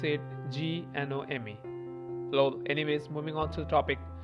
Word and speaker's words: GNOME: We pronounce it Gnome.